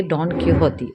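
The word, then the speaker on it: Don Quixote: तो देखिए, ये स्पेन की राइटिंग है, तो इसके जो नाम है, इसके जो प्रोनाउंसिएशन है वो थोड़े डिफरेंट होंगे। हम जैसे इंग्लिश में प्रोनाउंस करते हैं वैसे नहीं होंगे।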